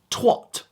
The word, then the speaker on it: twat: Sometimes pronounced incorrectly, just make sure you go with the long A, just like they like to pronounce the word bath, you go with twat.